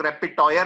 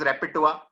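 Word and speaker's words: repertoire: उसको पढ़ते हैं तो कई लोग रेपिटॉयर पढ़ते हैं, बट इट इज रेपिटुआ।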